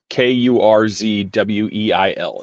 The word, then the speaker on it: Kurzweil: It's Kurzweil. Is how you say his last name.